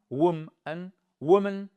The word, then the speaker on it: woman: Exactly amaz one man ex le pluriel c'est man et pour woman wom woman la femme wom les femmes attention c'est pas